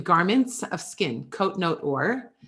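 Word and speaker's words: עור: of skin coat note ore right so phonetically the ore is the same but it's spelled differently right right so it's written with an iron um and it's but also pronounced or but it's translated as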